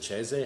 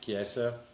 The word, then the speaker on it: Chiesa: Michael is it Cheze? How the hell do you Chiesa. say his name? Chiesa.